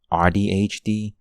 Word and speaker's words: AuDHD: other websites is audhd so basically you throw a u after the first after the A and ADHD so you pronounce it like you're pronouncing autism and then you say you know the D the H and the D like you do an ADHD hence audhd but yeah it just